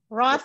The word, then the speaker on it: wrought: which is displayed by, well, we don't normally pronounce it anymore. With regard to the changes which are wrought by global warming. Wrought like brought by?